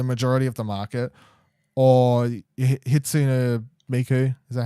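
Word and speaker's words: Hatsune Miku: is a majority of the market, or Hitsune Miku, is that how you say it?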